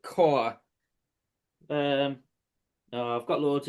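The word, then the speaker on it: Kaur: here uh where so Rupy I think you pronounce it core.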